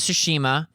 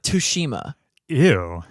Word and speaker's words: Tsushima: over to Ghost of sushima with d Su also why does Jeff key pronounce ghost of tsushima wrong how does he say it ghost of tush ew that's as if it